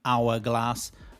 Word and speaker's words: hourglass: Now, if you don't know that honest and heir and honestly and hourglass and hourly are pronounced without the H, you're going to say it wrong.